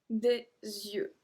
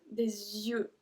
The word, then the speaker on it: yeux: So with the, with some, technically, or with two, the pronunciation at yeux is always with a Z in front of it because of the link. So we always pronounce it des yeux, les yeux, deux yeux, okay?